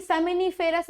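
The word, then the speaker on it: seminiferous: ठीक है, कौन सी, सेमिनिफेरस नलिकाएं, जिसको हम लोग कह देते हैं सोमिनिफेरस नलिकाएं, है ना। तो थोड़ा प्रोनाउंसिएशन में अर्थ ध्यान रखा करें क्योंकि बायोलॉजी में उसका अर्थ बदल जाता है।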